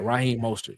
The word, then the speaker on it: Raheem Mostert: Raheem Mostert.